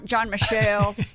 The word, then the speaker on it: John Michel: john mchale nickel michelle john michelle that's how you say his name because he's french john michelle's uh military